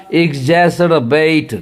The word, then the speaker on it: exacerbate: एग्जैसरबेट, क्या पढ़ेंगे? एग्जैसरबेट। ये पहला वाला ज पढ़ेंगे, ई एक्स वाला जो है ज एग्जैसरबेट, बरोबर।